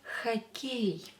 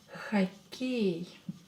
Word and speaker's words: хоккей: Следующее слово хоккей. Хоккей. Хоккей. Хоккей. What gender is this? Хоккей. It's masculine. Он хоккей. Давайте напишем. Хоккей. Хоккей. Ударение на букву Е. Е is stressed.